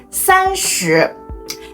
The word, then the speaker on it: 三十: 30 the format is Sun plus so it's pronounced as sanchu this rule applies to all tense such as